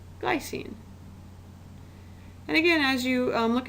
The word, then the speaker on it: glycine: last one how do you think that gets pronounced glycine and again as you look at these formulas